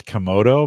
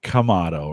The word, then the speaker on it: Kamado: you've corrected me I've always called these guys kodo but they're kamado right is the is is that how they